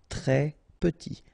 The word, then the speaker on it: très petit: e petit très petit here final s doesn't exist pronounc très petit très petit traditionnel ok double traditionnel traditionnel transatlantique ok translantique transatlantique tribal tropical sans peur.